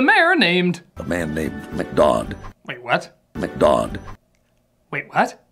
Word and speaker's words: McDodd: A man named McDodd. Wait, what? McDodd. Wait, what? McDodd. McGod? McDodd. McGod? McDodd. Whatever, you just call him that to rhyme with odd.